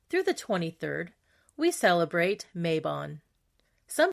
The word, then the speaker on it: Mabon: September 21st through the 23rd, we celebrate Mabon. Some pronounce it Mabon.